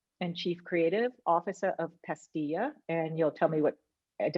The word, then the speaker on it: Pastilla: You are the co-founder and chief creative officer of Pastilla, and you'll tell me did I pronounce it correctly, Rudy? Yeah, Pastilla.